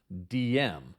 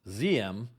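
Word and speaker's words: Diem: reading that name I always thought it was pronounced DM but after listening to many experts on Vietnam apparently it was pronounced ZM so that's the way I will pronounce it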